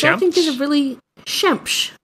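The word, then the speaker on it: Xemx: There's Shemsh, which means the sun, which I think is a really... Shemsh. It's spelled X-E-M-X.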